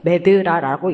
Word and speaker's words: MedDRA: 여기 지금 발표 제목에 보시면 아시겠지만, Medical Dictionary for Regulatory Activities에서 사실 D가 두 개인데, 앞에 구분을 하려고 MED 할 때는 ED는 소문자로 쓰고 뒤에는 DRA를 써서 이렇게 하고 MEDLA라고 읽습니다.